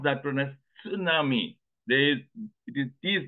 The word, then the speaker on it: tsunami: means Harbor Nami means wave in Japan they pronounce that one as tsunami they it is he is not silent but somewhere in America they were not able to pronounce that way so they started pronouncing tsunami the same way psychology that peace not silent